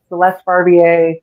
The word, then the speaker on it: Celeste Barbier: Just type in my name, Celeste Barbier, with a silent R on the end.